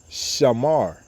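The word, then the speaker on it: שמר: When you put those 3 words together, saying it in the ancient Paleo Hebrew, it will be what? Shamar. Okay, shamar, sha, ma, and a ra, and when you put it together, it's shamar.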